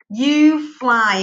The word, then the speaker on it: UFLI: Coloca lá, blending board, you fly. É assim que pronuncia, tá? U-F-L-I.